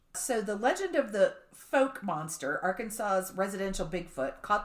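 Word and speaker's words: Fouke: because I was like Hey how do you pronounce this why folk what's it spell like f o u k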